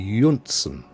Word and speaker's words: Jonsson: But it would actually, the J would be pronounced as a Y. So it would be Jonsson. Would be the actual pronunciation.